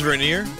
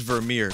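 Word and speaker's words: Vermeer: don't think it's start I don't think it's spelled with an R you fucker God damn it verir wow I I got it wrong both times it's it's Tim's verir sorry it's about um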